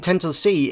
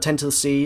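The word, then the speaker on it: 0x10c: new thing it's called 10 to the C it was 0x1 C but it's pronounced 10 to the c um and everyone was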